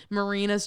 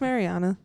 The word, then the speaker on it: Mariana: fandom of this movie thinks that it's like Marina's Trench, but it's in fact a kiddie pool. Like that's what I'm trying to say. isn't it pronounced Mariana or is it Marina? It's a marina. It's Mariana.